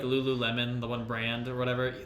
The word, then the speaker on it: Lululemon: That's how Ben pronounced it for the longest time until Maria pointed it out to him, because he just kept saying Lulumon, because I guess he was reading it wrong or something.